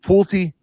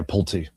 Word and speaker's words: Pulte: Is it Pulte? I think you're right. Yeah, Pulte. Pulte.